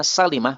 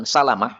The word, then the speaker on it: Salimah: E perhatikan bacanya Salimah bukan Salamah ya. Semua kata salamah dibaca salamah kecuali Bani Salimah. Maka Bani Salimah dibaca kasrah.